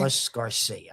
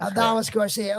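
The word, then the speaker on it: Adolis García: I don't know how to say his first Garcia. How do you say his first? Aldiz? Is that how you pronounce his first name? Aldoris? I'm not sure how to pronounce his first name. Adalis Garcia. Adalis Garcia.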